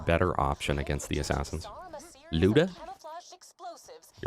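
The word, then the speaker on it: Lyuda: Leuda is apparently pronounced Luda or Luda.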